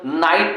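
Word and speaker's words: knight: उच्चारण के नियम जैसे मैंने बताया था कि कब KNIGST होता है तो मेरे भाई के को साइलेंट करके केवल नाइट पढ़ा जाता है।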